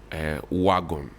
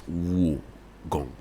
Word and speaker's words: Wogon: And then people say Ayawaso West Wagon. It's Wogon.